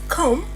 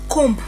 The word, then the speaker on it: comb: It is comb not comb.